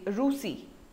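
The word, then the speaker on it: Russie: In French we say Rusi.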